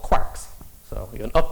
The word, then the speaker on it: quark: Uh, quark has to rhyme with Mark. Uh, and Mark in Irish is pronounced Mark, not Mark. So, it's quark.